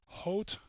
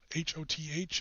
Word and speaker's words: Hoth: In the Center Army Group, we had 2 Panzer groups, Panzer Group Hoth, H-O-T-H, it's not pronounced Hoth like the Star Wars planet, Panzergruppe Hoth and Panzergruppe Guderian.